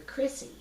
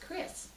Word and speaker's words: Crisse: And of course, some people see it and they say, "Oh, you're Crissy." And I said, "No, it's just pronounced Crisse."